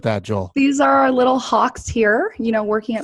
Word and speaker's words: Hawke: Joel these are little Hawks here you know working at Hawk media even though it's spelled H a w ke the hawk the bird is actually part of